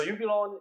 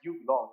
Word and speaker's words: Ubiloan: is business we're engaging so you belong is a pronunciation it's like you belong we want to trade